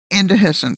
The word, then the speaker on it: indehiscent: Indehiscent, dear. Indehiscent.